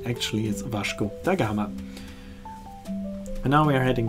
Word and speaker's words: Vasco da Gama: name is also pronounced Vash dagama the Portuguese way to pronounce it it's also the pronunciation